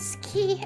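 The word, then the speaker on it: 好き: there is the two in Japanese ski is how you pronounce Moon and ski is also how you pronounce um like andless if you're shy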